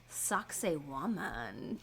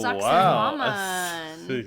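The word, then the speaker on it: Sacsayhuamán: So, my first example is, and it's pronounced suioman. Oh, sucks woman.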